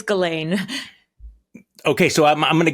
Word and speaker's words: Ghislaine: I'm going to pronounce it wrong, Ghislaine Maxwell for years now, haven't you? That's pretty close. It's Ghislaine, but yes, if you want to say it the French way.